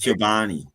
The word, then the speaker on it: Chobani: Pronounced Chobani.